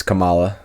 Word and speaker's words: Kamala: It's Kamala. Because Kamala I, Harris. cause I You messed it up.